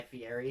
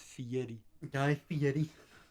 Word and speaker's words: Fieri: and dives okay guy fieri yeah yeah yeah actually you said it wrong it's fiery so yeah all right